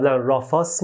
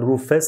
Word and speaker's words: Rufus: I used to read "Raafaas" before. But after I searched, I found that Rufus is correct.